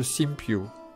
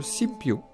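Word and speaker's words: Sinbyume: périple par la pagode simbioz oui je sais on l'écrit comme ça mais ça se prononce si piot la pagode simbioz fut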